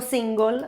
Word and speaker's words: single: Essa palavra single a gente viu na segunda aula e você se lembra que se pronuncia dessa forma. Sono single, ou seja, sou solteira.